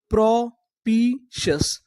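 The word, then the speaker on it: propitious: अगर आपको इंग्लिश में कहीं पर TIOUS लिखा मिले तो हम लोग TIOUS को पढ़ते हैं सस। क्या पढ़ते हैं? सस। तो पूरी मीनिंग क्या बनी? प्रोपीशस, प्रोपीशस, प्रोपीशस।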